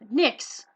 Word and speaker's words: Nix: Nix. Yeah. Nix. Nix. Nix is spelled N-I-X or N-I-C-K-S's, like a plural Nix, or N-I-X.